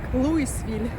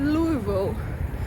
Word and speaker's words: Louisville: це місто насправді от в назві там є буква S тобто Логічно що віно буде про вимовлятися як луisсвіль але самі жителі вони не говорять луisсвіль вони не вимовляють цю букву S в назві тому вони говорять lвеel без букви с не луisсвіль а lвеel